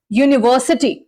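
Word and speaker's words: university: तो जो इसका इनिशियल साउंड है वो क्या है? यू, है ना, यानी क्या है, यहां पे मैंने इसका फोनेटिक ट्रांसक्रिप्शन दिया है यू, यानी लॉन्ग प्रोनाउंस करना है आपको यू, और यू मींस यहां पे य का साउंड आ रहा है।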